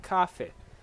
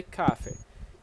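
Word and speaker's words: café: So you don't say cafe. You say cafe. Put all the stress in the syllable that has cafe.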